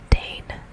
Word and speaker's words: deign: Dane, Dane, Dane, which is spelled D-E-I-G-N, D-E-I-G-N, Dane, Dane, Dane, Dane, Dane, Dane, Dane, Dane, Dane.